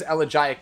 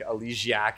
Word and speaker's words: Elegiac: Next up is Elegiac Candle, and yes, that is how it is pronounced. Google it if you don't believe me. A lot of people pronounce it other ways, like Elegiac and things like that.